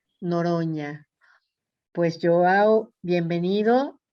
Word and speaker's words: Noronha: Noronha. Noronha, La NH en portugués es como la ñ con tilt. Noronha.